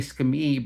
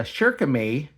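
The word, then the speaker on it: Shirakami: I've been saying Skami, but it's a Shirkame 1560.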